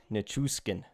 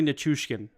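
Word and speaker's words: Nichushkin: here's a tough one Valeri necheskin you got the last name pretty close it's Valerie nachushkin okay so it's a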